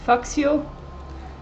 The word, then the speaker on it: Växjö: I'm going to in English it's pronounced Faxio, but in Swedish I think it must be Växjö, something like that.